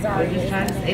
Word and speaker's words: Zaria: Let me spell it for you. Yeah. Z-A-R-I-A.